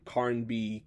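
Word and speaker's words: Carnby: I think you pronounce the author's name Karnby Kim.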